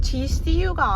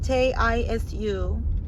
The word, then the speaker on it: 지수: 처음에 그 피크닉 왔던데 내 이름은 gcu가 아닌데 지수인데 jisu 아니야 부를 땐 지수라고 부르는데 맨날 스펠링 보낼 때는